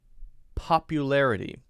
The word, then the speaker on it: popularity: always confuse to say popularity hello rey the pronunciation of this one is popu it's a u sound there so it looks like